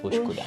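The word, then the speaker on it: Üsküdar: Yes, Uskudar. Uskudar. Thank you for pronouncing it.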